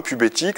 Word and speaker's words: PubéTic: jeun de mot hein pubéthique ça s'écrit pube TIC euh donc les titic